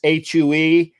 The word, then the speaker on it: Hue: in uh vietnam okay and it's it's it's hue and yeah i'm i'm going to the you